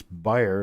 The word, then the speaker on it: Beyer: Generally, if it's a German name and it was Bayer, it would be pronounced like the aspirin, or it would be spelled like the aspirin, B-A-Y-E-R. So I think it's Beyer, like you buy something, but it may not be.